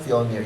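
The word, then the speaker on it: Fjölnir: Oh yeah, it's pronounced Fjolnir.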